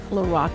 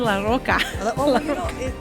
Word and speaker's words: La Roka: oh my so how do you say your last name lorac i've been saying it wrong forever i've been saying la roca it's a funny thing